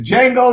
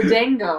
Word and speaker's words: Django: Why is he saying the Django? Because that's part of the movie where the man said, the Django! The D is silent, motherfucker.